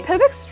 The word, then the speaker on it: Tebek: Tebek's really pretty, Just in case, the way you pronounce it is... Tebek.